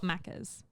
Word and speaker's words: Macca's: So we call it Macca's. So you say, "Good day, mate. Let's go to Macca's." Yeah, literally. That's literally how you say it.